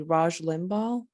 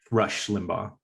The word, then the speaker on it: Rush Limbaugh: were speaking about I'm not sure whether I'm pronouncing this correctly Raj Limbaugh Rush Limbaugh Rush Limbaugh yeah so I had to like